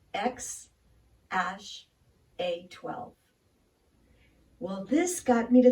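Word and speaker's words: X Æ A-12: podcast with Joe Rogan Elon Musk says it's pronounced X - a 12 well this got me to thinking about a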